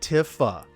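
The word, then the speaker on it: Tifa: are pretty self-explanatory honestly no it's Tiffa if I'm hey I'm right on that one that's how it's pronounced and Advent Children that's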